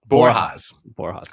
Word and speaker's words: Borjas: Borjas. Like an H.